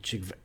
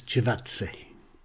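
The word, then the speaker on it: Chakvetadze: Duomo in the midfield with Barr, Ince, Kayembe and Chigve... Fucking how do you say that? Number 8 and Bayo up front. My apologies to the Watford player. I'm told it is Chivatsi, how you pronounce it.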